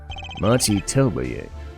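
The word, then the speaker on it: Machi Tobaye: Machi Telbaye.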